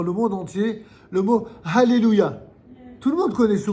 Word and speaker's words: alléluia: la règle du milieu on devrait dire alleluia on dit pas allelluia on dit alléluia pourquoi on dit alléluia parce qu'il y a de laamè et que quand il y a deux cones qui se suivent et bien